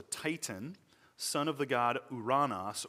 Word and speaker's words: Uranus: son of the god Uranos, or if you you may pronounce it Uranus or Uranus. You may not like either of those. If you want to use the Greek pronunciation, just say Uranos.